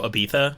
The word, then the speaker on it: Ibiza: It totally sounds like how the British pronounce Ibiza. They go Ibiza. Ibiza. But we say Ibiza, like they do it Elizabethan. with like the lisp.